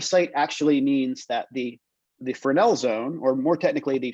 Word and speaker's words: Fresnel: Fresnel is actually spelled like Fresnel, but it's pronounced Fresnel. It's a French word.